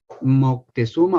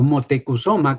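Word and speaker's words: Motecuhzoma: españoles es antepasado suyo Moctezuma o motecusoma que es la palabra la pronunciación correcta en la lengua mexicana de ese nombre por cierto hago un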